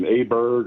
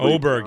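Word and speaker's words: Åberg: Um I thought uh I don't know how I always mess up his pronunciation. Aberg or however Oberg.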